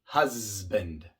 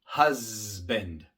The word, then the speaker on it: husband: Y se puede escuchar el sonido sonoro de la S en palabras como husband, husband, nasal, nasal, dogs, dogs.